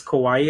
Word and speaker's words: Kauai: It is Kauai, I think it's pronounced.